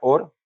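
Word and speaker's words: אור: que la luz verdad en hebreo se pronuncia or o hora y en el paleo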